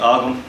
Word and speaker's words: Ogham: Nora White, the Ogham in 3D project, or as the Yanks might say, the Ogham. Yeah, Ogham stones and all that. Admittedly, it is a hard word to pronounce if you're not Irish or living on the island.